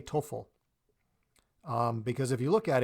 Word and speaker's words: TOEFL: pronounce it as TOEFL TOEFL is just two syllables so it's easy to say so you can take